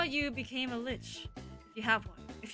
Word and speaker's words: lich: a human, but also, what do you call it? Like a lich? Is it a lich? Like? A lich. Lich. Okay. pronounced it correctly the first time.